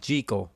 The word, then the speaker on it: Jekyll: Hyde in this movie it's pronounced G Co but whatever Frederic March is